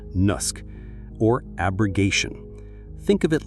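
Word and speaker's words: naskh: First up is the big one, a concept called Nusk, pronounced Nusk or abrogation.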